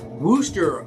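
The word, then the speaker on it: Wooster: Because like specifically on like the 100-mile day, we leave from Worcester, Ohio.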